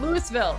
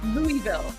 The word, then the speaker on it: Louisville: If you Oh, it's pronounced Louisville, guys. The Americans are correcting us. It's not Louisville. It's Louisville.